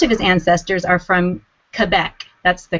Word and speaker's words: Quebec: interesting discoveries most of his ancestors are from Quebec that's the correct way to pronounce it quebec canada indeed the name Trepanier